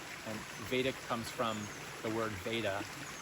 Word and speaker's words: Vedic: So I teach a practice called vadic meditation that's spelled v e d i c and vadic comes from the word veta and veta is